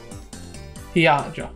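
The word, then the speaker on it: Hiyajo: Hiajo.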